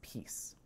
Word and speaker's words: PiS: its polish acronym pis which is usually pronounced as peace peace was initially founded